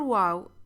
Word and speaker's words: waw: The letter waw is pronounced like an exclamation of oo. When pronouncing it, exaggerate. Waw, like Alif, when it's a long vowel, should be pronounced twice as long as normal English vowels.